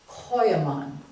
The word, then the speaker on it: Coeymans: carved on their gravestones as for pronunciation I'm told by my Dutch friends to say Coan and even that isn't close to it they would be standing